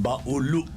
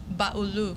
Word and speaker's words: Baulu: of these dishes in mindo Mandi and then baulu baulu baulu and then Dalal Dalal yeah that's it that's uh how to pronounce it putle Mandi and baulu andu wait